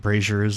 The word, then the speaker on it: brazier: You notice some metal on some like braziers, and I think that's how you pronounce it.